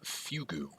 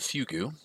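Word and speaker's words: fugue: life the art of fugu which by the way is spelled Fu gu e it is the culmination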